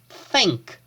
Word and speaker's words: think: To think, pay attention to the sound of the TH here. You have to put your tongue between your teeth. So it's think, think, think.